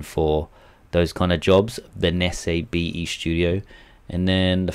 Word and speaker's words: Benesse: How do you pronounce that? Benesse.